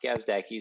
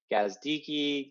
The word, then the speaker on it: Gazdecki: you passed yes uh the most common it's pronounced gazdaki so yes but the most common one is gazdiki gazdaki but yes kazdaki all my friends call